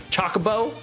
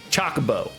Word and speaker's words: Chocobo: Chocobo. Chocobo. Like nonstop made me laugh my ass off listening to Freddy try to pronounce chocoo in Final Fantasy 7.